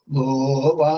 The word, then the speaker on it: ഗോപ: ഗോപ അന്തോദാത്താണ് എല്ലപ്പോഴും. ഗോപ ഗോപ ഗോപ.